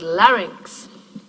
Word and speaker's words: larynx: one more remark on the word larynx two syllables and the second syllable is actually a strong syllable right ranks short vowel but a pretty strong coda there yeah and so probably